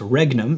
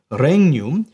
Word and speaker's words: regnum: Advent is his coming renum it's not pronounced regnum it's reum is the reign of